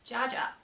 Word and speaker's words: JJ: I'm JJ, shortened pronunciation as Jaja.